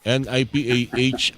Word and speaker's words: Nipah: Papaano ko ba ipo-pronounce ito? NIPA o NIPA NipaH virus.